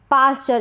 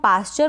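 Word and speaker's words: posture: बहुत बड़ा रोल है पाश्चर इसको हम पाश्चर पढ़ेंगे पश्चर ना पढ़े अगर आप प्रैक्टिस नहीं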